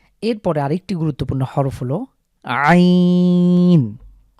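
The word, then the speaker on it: ع: এরপরে আরেকটি গুরুত্বপূর্ণ হরফ হলো আইন আ যখন এটা উচ্চারণ করব তখন আমাদের আমার কন্ঠের মাঝখানে চাপ পড়বে আইন যেভাবে আমরা হা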